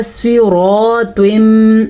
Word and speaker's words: صراط: دوسرا صراط, سواد کو پر پڑھنا ہے کیونکہ سواد پر پڑھے جانے والے حروف میں شامل ہے.